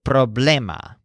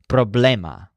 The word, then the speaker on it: problema: Joel's word for problem puts a stress on blame so the word is problema it's very obviously similar